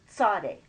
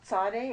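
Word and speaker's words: צדי: and that's a Saudi I hear it called a Sadiq sometimes I was taught Sade and I when I heard people saying Saudi you gotta you're doing it wrong no it's just another way of saying it and I just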